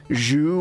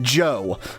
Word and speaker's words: Zhou: the funny thing that people tend to pronounce ZHOU as Zhu or something, but ZHOU is Joe.